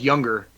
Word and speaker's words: Junger: It's pronounced Younger, but it's spelled with a J, so it's Junger. But it's Sebastian Younger, and he was the